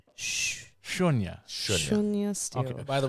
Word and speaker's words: Sunya: So what the pronunciation is? It's Shunya. Yes.